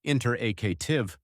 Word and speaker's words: interactive: And interactive, that's pronounced interactive with stress on the third syllable.